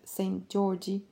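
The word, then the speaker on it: Szent-Györgyi: elucidated as a child Albert sent Georgie pronounced approximately like Saint Georgie hated books and needed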